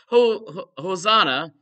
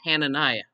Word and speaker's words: Hananiah: Hosanna, one of the prophets, took one position, and Jeremiah took another position. I mispronounced his name, Hananiah.